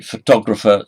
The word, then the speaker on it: photographer: In photographer, stress is on the second syllable, and again.